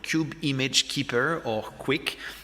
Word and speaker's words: kuik: Kube Image Keeper, or Quick. We try to make it pronounced like quick with a soft U, but since I think for English speakers that's just weird, we settled on Quick.